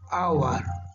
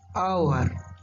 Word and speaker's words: hour: word our so here the word starts with h starts with h but it pronounced as vowel sound hour hour so we use on